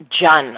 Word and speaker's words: Cheon: Your last name is spelled Cheon. It's spelled Cheon, but it's actually pronounced Jun, like Jun.